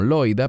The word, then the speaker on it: Loida: manifestó primero tu abuela nosotros pronunciaremos este nombre como loida pero en griego es lo viví y tu madre